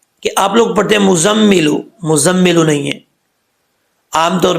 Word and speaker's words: مزمل: بھی غلط بولتے ہیں، کہتے ہیں کہ یہ مزمل آ رہا ہے، مزمل آ رہا ہے، لیکن عربی کا لفظ جو ہے وہ لفظ مزمل ہے. ٹھیک ہے، تو کیسے پڑھیں گے اس کو؟ ہجے کر کے میں آپ کو بتاتا ہوں. میم زا پیش، مز، زا میم زبر زم، مزم میم زیر می، مزمی لام پشلو، مزملو.